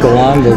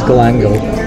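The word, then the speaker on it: galangal: Looks like it says galango, but she said it's galango.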